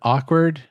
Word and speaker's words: awkward: One of the things I like about the word awkward is that it has a K, and that K is flanked by W's. And you don't even really pronounce the first W.